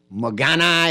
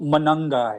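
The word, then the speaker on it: Monangai: I can let Clint give you the correct pronunciation of his name. There's a young running back in Chicago by the name of Mogana, or I don't know. Yeah. Kyle Manungai.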